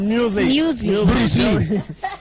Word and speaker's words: muesli: I don't know how you pronounce moesli. Moesli. Moesli. Okay, inaandikwa kama moesli. Okay. It's what? Muesli.